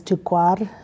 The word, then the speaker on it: Tokerville: It's Tukwar, that in Paiute, that's how you say it.